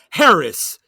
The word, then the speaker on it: Haracz: up look you up you could search my name and it's spelled just like it sounds h-a-r-a-c-z harris is that a good that's my gag yeah that's my game